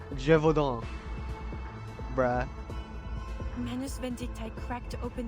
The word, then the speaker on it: Gévaudan: I said like Deneval, but instead it's Gévaudan.